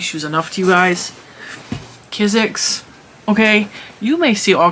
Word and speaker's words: Kizik: That's how you say it, Kizik.